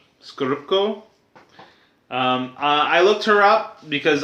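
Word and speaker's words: Scorupco: I always forget how to say or pronounce her last name. It's Isabella Skorupko. Skorupko.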